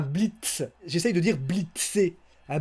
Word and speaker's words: blitz: Donc je dis un blitz. On dirait qu'il y a un D à la place du T. Donc j'essaye de dire un blitz.